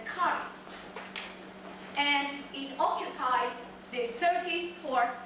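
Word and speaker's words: ქარი: alphabet we also have the letter book which is pronounced as curry and it occupies the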